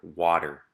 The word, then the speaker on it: water: And notice as I read these words that if we were to spell them with a D, they would make more sense phonetically. So these words are water, better, butter, and letter.